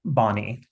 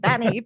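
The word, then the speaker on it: BANI: So I'll turn it over to you to explain VUCA and Bonnie. Yeah. So I love the fact that Americans and Australians pronounce things so differently. Um, so I say VUCA and Banny, but anyway, so I love it.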